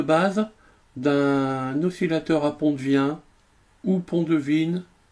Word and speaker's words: Wien: d'un oscillateur ap on devient ou qu'on devine bon moi je le prononce à la française parce que j'ai eu l'habitude de le prononcer comme ça ça m'échappe rats de toute